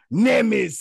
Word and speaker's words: Nemes: to others my very special guest Mr Jason nemis yeah what's up man what's up bro hey